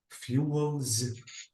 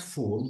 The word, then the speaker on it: fuel: is you FIS Fu fuels fuels ah exactly so fuel fuels this is a pel not fool because I heard you uh uh saying fool this is fool and this is a fuel absolutely we have F